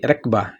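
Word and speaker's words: ركبة: ٹھیک ہے جی، گھٹنوں کو بولیں گے رکبہ. ادھر دیکھیں جی، تلفظ کی بات ہو رہی تھی تو ادھر پیچھے ہم نے پڑھا تھا رقبہ. ٹھیک ہے جی، یعنی کہ موٹا کاف پڑھا تھا رقبہ تو مطلب اس کا ہوا گردن.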